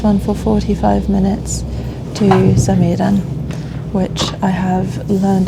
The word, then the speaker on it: Samedan: So from K I'm on this one for 45 minutes to Saman which I have learned how to pronounce from the different announcements because I definitely